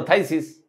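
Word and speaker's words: phthisis: এই থাইসিস রোগটার বানানটা, থাইসিস বানানটা কোনো রকম মিল নেই উচ্চারণের সাথে। আমি এখন বলছি, একটু খেয়াল করেন, আর কখনো ভুলবেন না। ফ ইহা হয়, পি এইচ ফ, দিস মানে ইহা, ইজ মানে হয়, হয়ে গেল থাইসিস।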